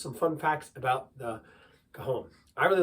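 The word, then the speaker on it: cajón: play is the Cajon it's spelled like Cajun c-a-j -o-n the J is of course silent and you have that H in there Cajon and there's a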